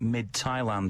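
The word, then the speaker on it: Midtjylland: that you're thinking of I don't know the official pronunciation of the name yet but as I understand it it's something like mid Thailand which is not actually a million miles away from being very appropriate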